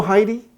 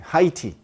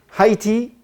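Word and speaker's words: Haiti: produce at home are more expensive you know Heidi I'm sure that's how you pronounce the name of the country high tea oh okay so I have to go tea at the end high tea it's one of the first countries and you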